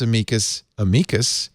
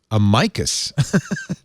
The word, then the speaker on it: amicus: Justice Breyer adopted an Anglo-Latin pronunciation. It will make any Latin teacher apoplectic, but it has English and American history behind it.